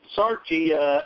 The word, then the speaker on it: Sarchie: And there is a book out by the policeman, Ralph Sarchi. Is that how you say his name? Yes, it is, sir. Sarchi, and co-authored by Lisa Coulier Cool.